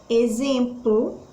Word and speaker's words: exemplo: forneiros vamos analisar a exemplo exemplo o x aí ele está com som de z então que ele só